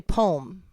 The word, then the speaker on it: poem: How many syllables is poem a 2-syllable word? English Poem. Heritage Dictionary says it has 2 syllables.